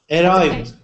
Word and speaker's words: arrived: So, arrived. We pronounce that. Arrived. Arrived. Arrived. Arrived. Arrived. Arrived. So, with your R sound, I'm hearing a little bit of like an uh like a little bit of a roll.